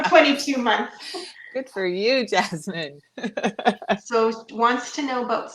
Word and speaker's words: Jasmine: Yasmin, I feel like. Yeah, Yeah. yeah, Yasmin, that's one. Yeah, because some cultures pronounce the J like a Y.